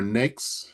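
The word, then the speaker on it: NAICS: Uh, choosing your NAKES, it's it's rhymes with cakes, nakes, and UNPSC.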